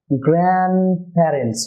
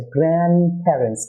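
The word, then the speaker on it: grandparents: ডিটিও দুটি কনসোনেন্টের মাঝে এবং টিও আসছে দুটি কনসোনেন্ট এন এবং এস এর মাঝে, তাই এখানে ডিও রিমুভ হবে এবং টিও রিমুভ হয়ে যাবে। তাহলে গ্র্যান্ডপ্যারেন্টস হবে, গ্র্যান্ডপ্যারেন্টস।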